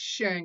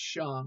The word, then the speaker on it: Shang: Okay, it's not pronounced Shang, it's pronounced Shang.